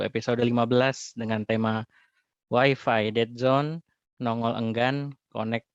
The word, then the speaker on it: Wi-Fi: Knowledge Sharing Setban 1 episode 15 dengan tema Wi-Fi Dead Zone, Nongol Enggan, Connect Tak Mau.